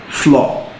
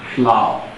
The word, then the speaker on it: flour: I've heard people pronounce option B floor. It is not pronounced as floor. The word is not floor, but has exactly the same pronunciation with the given word flour.